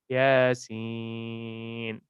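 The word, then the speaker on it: يس: They are huruf muqatta, and you have to pronounce it like Yasin.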